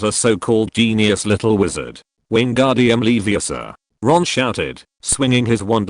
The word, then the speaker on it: Wingardium Leviosa: His partner Hermione said bluntly, it's Wingardium Leviosa, and the word ga should be pronounced long and clearly.